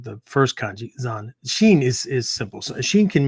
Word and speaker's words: Zanshin: So what I'm talking about is Zanshin, right? Not Sanshin, right? Different kanji, completely different kanji, right? So not Sanshin, Zanshin, Zanshin, right? Zanshin.